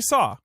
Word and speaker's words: Saw: Playing Saw Gerrera, but they don't pronounce it Saw. Don't they say like C. Gerrera or something? No, Saw. I kept on thinking the way they pronounced it was weird. They just say Saw.